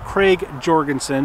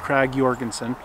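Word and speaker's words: Krag–Jørgensen: Danish company called often times referred to as Craig Jorgenson but it was actually pronounced Craig Jorgenson uh Danish company submitted it the US Army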